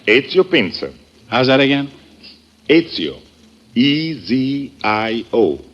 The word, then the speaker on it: Ezio Pinza: Is that the way you pronounce it? That is right. Ezio Pinza.